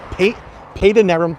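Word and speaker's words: Padanaram: pronounced well again with the accent it's it's paid a nerum pat it's spelled pad in there on p-a-d-a-n-a-r-a-m Village here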